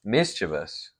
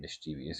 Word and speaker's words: mischievous: Mischievous. Mischievous. I'm still going to say it mischievous because Yeah, that's how I it's like way it. better. Way better. Whoever made that the correct pronunciation was just wrong.